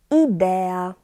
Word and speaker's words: idea: And one more, idea, idea. I, U together we pronounce as eu, eu.